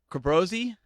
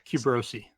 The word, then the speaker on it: Qubossi: wrist algea himself sweet even now I don't know how to pronounce your last name Kerberos II it's pretty close nobody ever knows how to pronounce that last name I I'll take clothes take weirdos Quiznos Quiznos I've heard that one before yeah you bro see you bro see oh I was close I was pretty oh